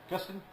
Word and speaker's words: Gustin: You got Grant Gustin. Am I pronouncing his last name right?